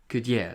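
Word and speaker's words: Gudelj: J, in not how you spell it, it's different. Like you say yell, say it J like Y in that yell.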